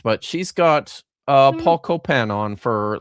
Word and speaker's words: Copan: It's spelled Copain, but Copan. Like, because it sounds vaguely French.